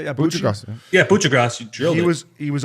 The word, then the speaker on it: Kucherov: Yeah, Kucherov, you drilled it.